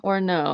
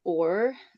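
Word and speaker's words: אור: It's it's uh it's not actually the ALF is silent in that. So, um, the wave in or um, wow or however you want to call it. I call it w. Um, the w is the o sound. Um, so that they can have an o sound or a u sound. Um, and so the af is silent. Um, followed by the w and the rash.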